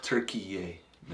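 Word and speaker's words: Türkiye: guys yeah but it's turkey y now turkeyy yeah that's how they like their name pronounced oh really yeah just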